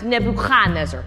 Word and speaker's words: Nebuchadnezzar: In Hebrew, we pronounce Nebuchadnezzar. More in the back of the throat.